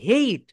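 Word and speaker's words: hate: হেট ইউ বলতে কোনো শব্দ নেই, এটাকে বলা হয় হেইট।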